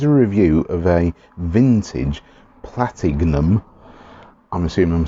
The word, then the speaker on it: Platignum: uk um platinum was i'm going to carry on pronouncing it with the g in the middle platinum um is a was